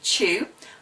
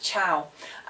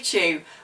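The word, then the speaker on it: Chou: favorite podcast is by a guy called Steve Chu I used to always pronounce it chow Steve Chu who actually runs an e-commerce course worldwide called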